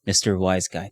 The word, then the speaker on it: WhyzGuy: So yes, Mr. WhyzGuy. That's how it's pronounced.